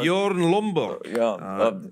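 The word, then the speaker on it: Bjørn Lomborg: Bjorn, how do you pronounce that? Bjorn Lomborg is how you pronounce his name.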